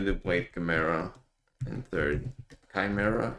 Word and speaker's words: Chimera: Chimera, apparently that's how you're supposed to pronounce it.